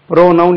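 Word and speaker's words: pronoun: இருக்கு பி ஆர் ஓ என் ஓ யூ என் ப்ரோநௌன் என்று ஒரு வேர்ட் இருக்கா இதுக்கு தமிழ்ல பிரதிபெயர்ச்சொல் பிரதிபெயர்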